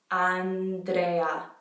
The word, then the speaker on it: Andrea: So it's ah. That's the A sound. Ah. Andrea. So notice how every letter is pronounced. Andrea.